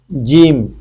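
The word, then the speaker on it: جيم: জিম।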